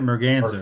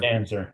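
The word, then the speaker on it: merganser: Morganza. Morganzer.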